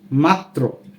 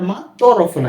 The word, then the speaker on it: মাত্র: শব্দের যেমন ম আকার মা ত রফলা কিন্তু যখন উচ্চারণ করতে যাই তখন এরূপ মনে হয় যে ম আকার মা এরপর আরেকটা ত রয়েছে মাত এরপর তরফলা প্রকার মাত্র মাত্র কিন্তু লিখিত রূপ কেমন